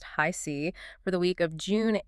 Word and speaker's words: HiC: Today we are pulling from Tarot by Harris C., and that's pronounced High C, for the week of June 8th through the 14th, 2026.